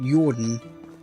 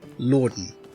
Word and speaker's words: Jordan: is, or Lord, yeah, it's pronounced Jordan, not Lorden.